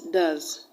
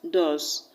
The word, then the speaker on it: does: the word does d-o-e-s does african will pronounce this word as dos what is rightly pronounced as does the voice goes towards